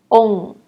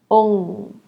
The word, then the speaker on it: ong: And for the last one, try to pronounce the first letter O, and then add the sound, ong, ong.